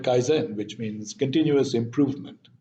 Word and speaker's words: kaizen: you're probably aware of i'm sure i'm not pronouncing it correctly but that's how it's pronounced in the west so we call it kaizen which means continuous improvement